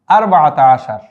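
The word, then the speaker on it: أربعة عشر: আচ্ছা, তারপরে 14-র বেলায়ও একই রকম, আরবাআতা আশার।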